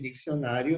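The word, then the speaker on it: diccionario: Cuidado com a pronúncia desses dois C aqui.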